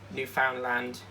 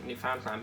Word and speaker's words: Newfoundland: Like, the amount of times I've heard news reporters say Newfoundland, Newfoundland, Newfoundland, you know, they pronounce it all differently. But it is actually for Newfoundland.